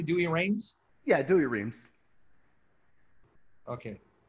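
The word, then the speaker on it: Douay-Rheims: yeah doing rhymes or dewey reigns am i pronouncing it correctly dewey reigns yeah do your reams okay watch here during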